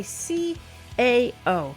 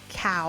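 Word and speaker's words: CAO: you know is that this is a c AO not a cow or however some people pronounce it actually actually it stands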